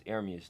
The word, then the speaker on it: Ermias: It's Ermias though. That's how you say it.